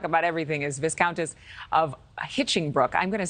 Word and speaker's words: Hinchingbrooke: Here to talk about everything is Viscountess of Hitchingbrook. I'm going to say that. Is it Viscountess of Hitchingbrook? Yes, you've got it.